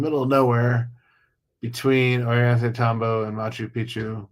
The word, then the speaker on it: Machu Picchu: between Orient Tombbo and Machu Picchu. Mach Machu Picchu. Sorry, I got to pronounce it correctly because you say it wrong, it means something completely different.